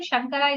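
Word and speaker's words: शङ्कर: So Sha is Vishnu, Sha, Murdhanya. The places are given in the phonetics. Sha. That's the Sha.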